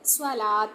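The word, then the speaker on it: صلاة: ஸ்வலாத் அப்படின்னு சொல்லி நம்ம படிச்சிருப்போம் இல்லையா ஸ்வலாத். சலாத்ன்னு சொல்லக்கூடாது. ஸ்வலாத் அப்படின்னு சொல்லி சொல்றதுதான் சரியான உச்சரிப்பு.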